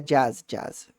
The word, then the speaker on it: jazz: Eu confundi com a pronúncia em português, ó. Não é uma palavra nem em português, nem em francês. Então, deu nó na cabeça, mas é jazz, som de A.